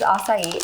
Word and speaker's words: acai: So this is acai, A-C-A-I.